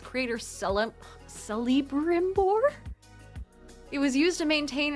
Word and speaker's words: Celebrimbor: But Celebrimbor is how you say it, says Astro.